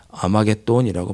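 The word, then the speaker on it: 아마겟돈: 무기 도라 하는이 장소를 헬라어로 말하면 아마게 돈이라고 발음합니다 성경이 말하면 마지막 세계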